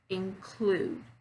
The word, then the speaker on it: include: Same thing for include, right? Include. So there, I'm stressing on the second syllable, clued.